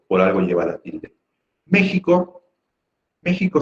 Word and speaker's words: México: México sí podría ser esdrújula. Y a decir verdad lo es, porque es la antepenúltima sílaba la que lleva la tilde.